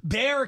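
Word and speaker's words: Bexar: would they probably know Bear County Texas so the x is silent I guess so all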